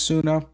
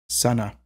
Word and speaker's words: Sunna: high German mercenberg terms it's actually not pronounced sooner I mean we all sort of say it that way because we're accustomed to it but technically the pronunciation of her name is Sana so again you can